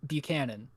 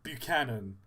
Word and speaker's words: Buchanan: Butchered in B- Buchanan. Buchanan.